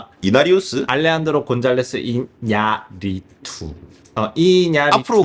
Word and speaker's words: 이냐리투: 알레한드로 이냐리우스? 이나리우스? 알레한드로 곤잘레스 이냐리투. 이냐리투.